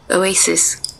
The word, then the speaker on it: Oasis: হ্যাঁ এবার উচ্চারণটা আমি শোনাই, একটু দাঁড়ান। এই Oasis, দেখেন, Oasis, আরো আরো স্লো করে শোনাচ্ছি, দেখেন।